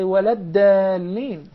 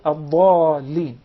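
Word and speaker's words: الضالين: But make sure that you don't confuse the Dad with the Dal. Yes. So you don't say walad dalin instead of ad-dallin, and so on.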